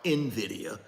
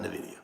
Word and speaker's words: Nvidia: short positions against Nidia and I know it's pronounced Nvidia but I call it Nidia same with Tesla you got Bill Gates one